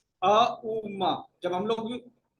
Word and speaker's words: ओम: तो ये चक्र जो है एक्टिवेट जो है हम लोग ओम के उच्चारण से करेंगे। अ उ म।